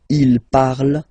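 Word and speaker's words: ils parlent: And the last one, so even if you've got this ENT, well, don't hate me, but you won't pronounce these letters, okay? You have to write them for the plural form, but you don't pronounce them, so you get il parle, elle parle.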